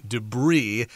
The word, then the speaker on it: debris: We would describe that as the debris. Don't pronounce that S because this is a French word in origin.